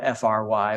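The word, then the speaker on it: Frey: Andrew Vogel, John Fry, it's spelled F-R-E-Y, but every census taker spells it F-R-Y, which probably is indicating it's Fry, German.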